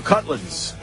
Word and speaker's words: Cudlitz: Michael, I think Cudlitz is how you say it.